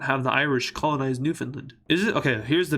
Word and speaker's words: Newfoundland: Is it Newfoundland or Newfoundland? If we're looking at it in an English perspective, it should be pronounced Newfoundland, but everyone says Newfoundland.